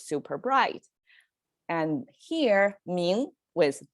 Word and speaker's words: 明: So with, okay, it's pronounced as 明.